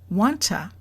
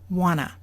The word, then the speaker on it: wanna: three you'll see that we now have wanna we have to pronunciation changes number one the blue changed to a and number two the T sound is gone which level is the